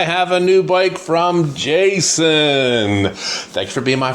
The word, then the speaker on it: Jasion: Now, I pronounce the company Jason. Why? Whenever I take a bike from a company, I'm not sure of the pronunciation of the name. I always ask the company rep. I said, "How do you pronounce your name?" And they said, "You can pronounce it two ways, Jason and another way."